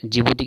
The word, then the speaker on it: Djibouti: ठीक है, जिबूती की स्पेलिंग क्या होती है?